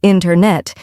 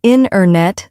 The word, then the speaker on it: internet: sounds just disappear yes a great example is internet we don't usually say internet instead we say inet the t- sound gets softer or disappears that's so true and